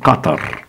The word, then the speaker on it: Qatar: Pena arábica muda pouco Bah apenas aqui pronunciamos diferente o h que aqui no ocidente o h para nós em inglês por exemplo é bem aado Help em á tem h não muda nada falamos simplesmente Qatar certo Omã nós falamos